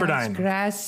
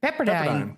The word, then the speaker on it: Pepperdine: the university in, I don't know how to pronounce. Pepperdine. Right? Pepperdine.